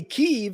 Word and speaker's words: Kiev: Ray, Kiev is the English Anglo translation to a Russian word. Thus, Kiev is two syllables. Ukrainians say their capital city in their language as one syllable. Both ways are correct.